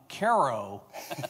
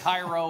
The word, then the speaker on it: Cairo: Uh thank you for correctly pronouncing my hometown Ko, Illinois correctly. So many people get it Cairo or Cairo or whatever.